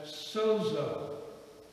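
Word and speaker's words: σῴζω: would pronounce it as sozo. We'd spell it S-O-Z-O. Sozo. If you had a friend named Zorro and you were greeting him one day, you might say, sozo, how you doing?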